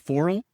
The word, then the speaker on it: Foral: It's called Foral, Foral, Foral. So like for all, but foral.